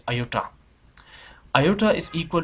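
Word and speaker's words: iota: एंड आई, ये जो आप सिंबल देख रहे हैं इसे पढ़ते हैं, प्रोनाउंस करते हैं आयोटा।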